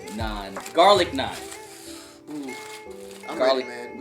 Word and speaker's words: naan: And then this is naan, N-A-A-N, naan, garlic naan.